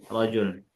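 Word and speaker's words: رَجُل: Arrajulu bukan rujul ya. Rajul.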